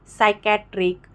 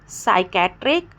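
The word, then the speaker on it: psychiatric: अगर एस के पहले पी आ जाए तो पी साइलेंट हो जाएगा। साइकोलॉजी, साइकेट्रिक और साइकोथेरेपी मैंने एग्जाम्पल दिया।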